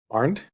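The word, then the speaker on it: Arndt: Pronounce last name. Aren't yes.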